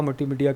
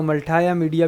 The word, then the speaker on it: मल्टीमीडिया: अब यहाँ पे आ मल्टीमीडिया कहेंगे, और थोड़ा सा मुँह टेढ़ा करके बोलना मल्टाया मीडिया भी कह देते हैं, लेकिन जो ब्रिटिश प्रोनाउंसिएशन है वो मल्टीमीडिया ही है।